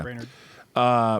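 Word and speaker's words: Brainard: Brainerd. Brainerd, he's got a big brain, said the situation bears watching and points up the importance of making sure the system has proper safeguards.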